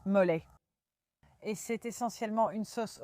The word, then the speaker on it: mole: Mais en fait, ça se prononce molet et c'est essentiellement une sauce au piment avec des noix.